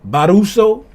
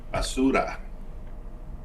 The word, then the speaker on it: basura: Barusa baruso how you say trash this man is it is it baruso barusa basura. Hey Siri, how do you say trash in Spanish? Basuda. In Spanish, trash is basuda. Basura. That's what they said. I said it's basura.